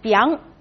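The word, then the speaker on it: 𰻞: It's pronounced as biang. It's a very strange pronunciation, actually.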